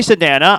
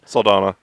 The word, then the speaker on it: Saldana: it thank you yeah thank you uh Zoe Sedana I can pronounce that Saldana uh Wesley yes that's Batwoman okay all right